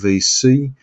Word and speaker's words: VSee: I also use a product called VC, that's spelled VSEE, and it's a video conferencing tool as well.